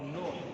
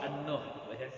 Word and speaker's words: Nuh: Ya, jadi ingat cara membacanya surah Nuh, bukan surah An-Nuh.